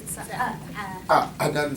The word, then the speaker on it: Cadaan: And oh, by the way, Adan Studies, right? The C is silent. Adan Studies.